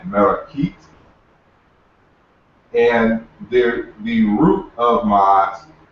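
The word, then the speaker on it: Maat: You actually don't pronounce ma'at correctly, but that's another topic. It's more closely pronounced something like merakit.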